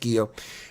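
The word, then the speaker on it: Guiot: You have a first name, a given name, Guillot, G-U-I-O-T, and it's pronounced Guillot.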